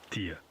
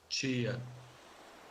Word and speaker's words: tia: There's a parallel difference in the pronunciation of T followed by I. In Portugal, it's T, though the vowel may be reduced in unstressed syllables. In Brazil, it's Chi. For example, the word for ant.